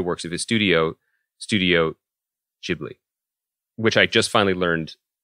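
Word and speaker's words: Ghibli: Miyazaki and the works of his studio studio jibli which I just finally learned how to pronounce and I'd love to talk to you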